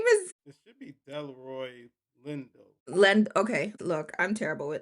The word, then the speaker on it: Delroy Lindo: Jordan and Lindor Leroy. That is how you say it. His name is It should be Delroy Lindo.